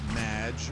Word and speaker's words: Madge: have mispronounced my name it's madge which rhymes with badge uh as in duh